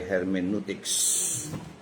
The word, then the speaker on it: hermeneutics: At ang atin pong subject ay hermeneutics. O ang pronunciation niya talaga ay hermeneutics.